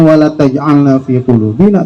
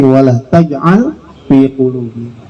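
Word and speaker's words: ولا تجعل في قلوبنا: Jadi bukan wala taj'alna fi qulubina, tapi wala taj'al fi qulubina.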